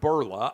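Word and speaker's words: Bourla: covid booster shots the ceo of pfizer albert berla i believe is how you pronounce his name today came out and announced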